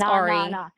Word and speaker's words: Ari: No, my name is Ari. My name's Ari. I think you uh had the pronunciation wrong.